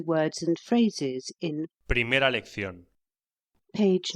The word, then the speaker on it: lección: Footnotes relating to words and phrases in Primera lección. page 9 footnotes. 1. Lección. Pronúnciese lección. La C se pronuncia antes o delante de E y de I, como en th en inglés.